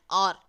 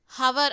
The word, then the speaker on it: hour: அதே மாதிரி அடுத்து அண்ட் ஆர். ஹவர் அப்படின்னு ப்ரொனவுன்ஸ் பண்ண மாட்டோம், ஆர் அப்படின்னு உயிர் எழுத்தான ஆ சவுண்டில் ப்ரொனவுன்ஸ் பண்ணுறோம், ஸோ ஆன் அப்படி போடணும்.